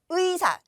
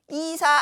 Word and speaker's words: 의사: 요게 음절이 되는 거죠 그럴 때는 의로 발음합니다 그래서 의사 의사 안 되고요 이사 안 됩니다 어 의라고